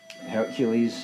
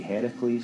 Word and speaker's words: Heracles: So you know, Hercules is actually the Roman pronunciation. The original Greek would be Heracles.